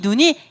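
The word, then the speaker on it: נון: 마지막 오늘 눈을 배울게요. 눈은 이렇게 생겼습니다. 아까 카풀은 동그랗지만 눈은 약간 이렇게 생겨서 눈. 50번입니다. 눈. 니은 발음, N 발음이죠. N 발음, 눈.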